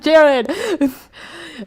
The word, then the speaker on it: Gerard: like, why is his name, why did they pronounce it Jared?